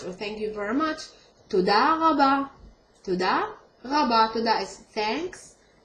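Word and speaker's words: תודה רבה: Toda rabba, the resh in modern Hebrew is pronounced as r, resh. Not re, ma, but r.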